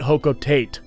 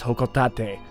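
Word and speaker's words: Hocotate: explore tomorrow and yes but its whole co-taught a not hoe coat eight that's what a lot of people think including myself once upon a time but the official pronunciation as according to Japan Nintendo of Japan is Ho cough that day and now we shall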